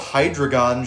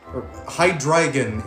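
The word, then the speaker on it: Hydreigon: Uh, I always felt hydrogon should have a uh Hydragon should have a a mega. Like I'm not I'm I'm kind of biased because I love hydrogon but still Hydragon is how you say his name.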